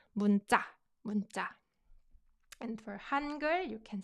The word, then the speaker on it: 문자: This is pronounced 문자, not 문사, 문자.